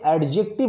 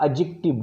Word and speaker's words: adjective: ऐसे ही एडजेक्टिव phrase, इसे एडजेक्टिव मत पढ़िएगा, एडजेक्टिव डी साइलेंट होता है, ADJECTIVE, एडजेक्टिव फ्रेज.